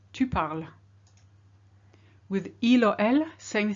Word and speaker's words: parles: With tu, you need an ES, but it's silent as well. Tu parles.